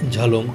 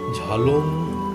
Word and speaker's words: ঝালং: কটেজে আমরা এবার থাকলাম, ঝালং, প্যারেন, সামসিং, সুনতালেখোলা, সবগুলোর মধ্যে অবস্থানগত হিসেবে ঝালং হচ্ছে দি বেস্ট, সবচেয়ে ভালো। ঝালং আমরা বলছি বটে, কিন্তু অ্যাকচুয়ালি এটার উচ্চারণ হচ্ছে ঝোলুং বা ঝোলং, JHOLUNG অথবা JHOLONG।